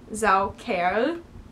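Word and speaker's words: Saukerl: humiliate is a female Zell Cal pronounced Zell care is for a male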